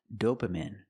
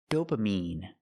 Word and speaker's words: dopamine: The word is not pronounced dopamine. It's pronounced dopamine. I have to use a long e sound like green beans. Dopamine. I cannot use a short i sound like this is dopamine.